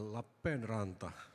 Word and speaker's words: Lappeenranta: Well, you pronounced quite well. Lappenranta. La Penrata. Yes. La Penrata. Two P's and two La A's. Penrata. Okay, so making stressing the P's.